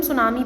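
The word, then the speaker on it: tsunami: का फटना सुनामी आना इसे हम सुनामी पढ़ते ड्यूटी साइलेंट रहता है ड्राइड मींस सूखा पड़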